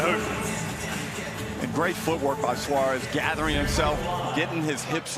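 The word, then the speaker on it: Soares: so oh the American Brazilian Tim Suarez it's spelled sores and he is soaring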